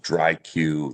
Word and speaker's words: DriQ: They look at it. Some people aren't sure how to pronounce it. Um, uh, Paige, you did a great job. But basically, it's a contraction of the word dry and IQ.